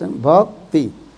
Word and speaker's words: Bhakti: Bhakti, very small, two syllables. Bhakti.